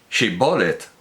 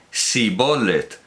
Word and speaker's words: Shibboleth: Entonces le decían: di pues Shibboleth. Mas él pronunciaba Sibolet, pues no acertaba a pronunciarlo correctamente.